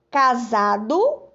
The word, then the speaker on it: casado: Temos aqui, ó, casado, aí cansado. Escuta o som do S agora. Casado, ó, za. Esse S aqui na palavra casado tem som de Z, ó, quando eu pronuncio.